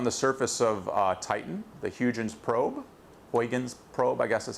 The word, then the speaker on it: Huygens: We actually landed something on the surface of Titan, the Huygens probe, I guess is how you say it.